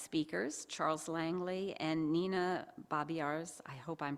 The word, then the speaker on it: Babiarz: back our guest speakers Charles Langley and Nina bobars I hope I'm pronouncing your last name Nina bobars now I've got both the first name and